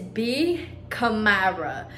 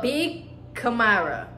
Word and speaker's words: B Kamara: have not told you how to really pronounce my name my name is B kamarra so be Kamara yes B Kamara that is how you